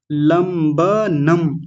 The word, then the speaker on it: लंबनम: ज्ञाना रूही आप देखिए आपने बोला था ज्ञाना ज्ञाना नहीं है ज्ञाना लंबनम लंब लंब नहीं लंब ब पूरा है लंबनम और व अलग है